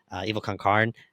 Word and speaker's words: Evil Con Carne: Evil Concarne. That's how you say it.